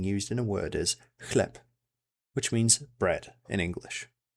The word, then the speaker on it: chleb: This CH digraph is pronounced exactly like a normal H.